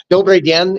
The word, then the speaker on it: dobry den: It's a pretty easy, like Dobry den is how you say, good day in Russian.